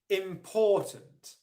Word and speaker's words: important: The second level of stress is on the first syllable, im, and then the unstressed syllable is on the final syllable, tunt. Okay, important, important, important.